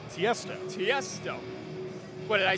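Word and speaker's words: Tiësto: Tiesto. What, did I say Tiezzo?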